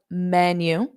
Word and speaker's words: menu: look at the menu so notice that pronunciation of menu menu so that end you have that U but it's unstressed so menu menu okay so now